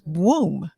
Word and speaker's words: Bwoom: instead of a w no i say b but it's like you know how you say broom but instead of r it's a w so it's boom kind of like a b womb but boom okay i see